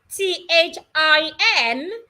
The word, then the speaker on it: thin: the symbol is written you need to put your tongue in between your upper teeth and your lower teeth this way look at my mouth so when you have the word t h i n the correct thing to say is thin put your tongue outside if you do not